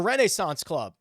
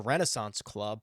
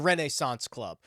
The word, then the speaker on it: Renaissance Club: Okay, the Renaissance Club, and I understand that you probably think I'm saying it weird, but that's how it's pronounced.